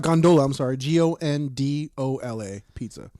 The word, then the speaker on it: Gondola: G O N D O L A. Pizza. G O N D O L A Gondola. Gondola. Gondola pizza.